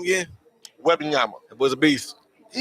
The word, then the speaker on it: Wembanyama: Well, how you pronounce that boy name again? Wembanyama.